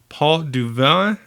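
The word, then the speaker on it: Pot du Vin: the first one is Paul du Vallon I think that's it's French I'm gonna spell it it's pot P ot a new word D u third word VI n so port of wine or port and actually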